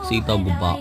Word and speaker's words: சீதா குபா: ஹாய் மக்களே, நீங்கள் பார்த்துட்டு இருக்கிறது தான் சீதா குப்பா. இந்த சீதா குப்பா அப்படிங்கிறது சீதா குபா என்று உச்சரிக்கப்படுகிறது.